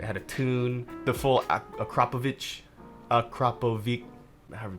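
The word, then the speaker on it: Akrapovič: The full Akrapovic, however you pronounce that. Akrapovic. Say Akrapovic. Akrapovic.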